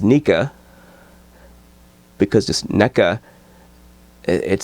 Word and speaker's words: NECA: The company spelled N-E-C-A. Everyone pronounces it NECA. And I don't know. Maybe that's the way it's pronounced. I don't know. I always think of it as Nika, because just NECA, it sounds weird.